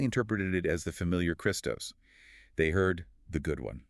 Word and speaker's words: Christos: speech during that period, the vowel sounds ape, e, and iota I had often merged. They were pronounced almost identically, a phenomenon linguists call ioticism. So Christos and Christos sounded the same.